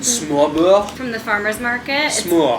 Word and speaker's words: smør: Smør. It's made with einkorn? This one was rye. Oh. Yeah. Anyway, this is empty. It's Danish bread. They spell it S-M-O-R, but it's pronounced like smør.